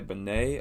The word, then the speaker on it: BENEE: I can't remember what episode that was, but Benet is spelled Benee.